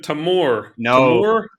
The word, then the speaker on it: Tamoor: somebody at tsa yeah really well exactly mr tamor yes sir please stand in the left queue